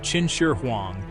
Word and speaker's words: Qin Shi Huang: The tomb of Qin Shi Huang, pronounced Qin Shi Huang, is a monument to the outer limits of human ambition and ingenuity.